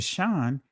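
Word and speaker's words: שין: Because when you start dealing with um Israeli Hebrew versus ancient Hebrew, in ancient Hebrew, right? It's just pronounced what? The shin and it always makes the what? The sha sound, the sha sound.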